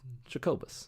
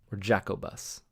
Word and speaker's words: Jacobus: they ultimately went with Jacobus yeah jaqobis as i pronounced him as a child but what do you